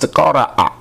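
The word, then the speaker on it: قرأ: The verb from which ikra derives or is derived is pronounced qara'a.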